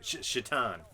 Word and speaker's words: Shaitan: Or I'm sorry, Shaitan. Shaitan's pants.